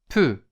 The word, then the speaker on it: peut: Il, elle, on peut. Il, elle, on peut. Hier mit T am Wortende, aber das T bleibt stumm. Die Aussprache ändert sich nicht.